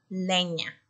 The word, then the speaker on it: leña: Lena, leña. No riman. Son palabras que no riman. Lena dice na. Tiene la sílaba na al final. Y la palabra leña tiene la sílaba ña. Ña. Entonces no riman.